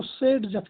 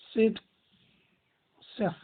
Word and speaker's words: Zaitsev: लिखा तो ऐसे ही जाता है बट प्रोनाउंस इसको SEDZEF किया जाता है, SAIT या SAYT, SEDZEF।